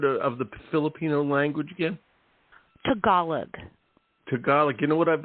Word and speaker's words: Tagalog: many languages out there, and I've been emphasizing the wrong syllable for I can't tell you for you know years what? and years and years. It's all good. You were today years old when it was Tagalog.